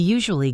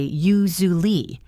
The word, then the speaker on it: usually: We don't say u-su-al-ly with four distinct syllables. We often say u-zu-ly.